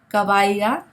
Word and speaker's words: caballa: Now remember, this is a fricative sound, and all that means is that it's a very soft sound, okay? So did you pick up on the pronunciation of this letter in all these words? Cabello, caballo, bello, caballa. It's a very soft sound. It's not like the English letter B, as in boy, okay?